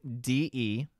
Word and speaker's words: desuetude: Can you spell that again? D-E-S-U-E-T-U-D-E.